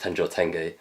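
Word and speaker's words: Tenjō Tenge: tenjoy tenge or tenjotenj i believe it's actually pronounced tenjotenge um but yeah that's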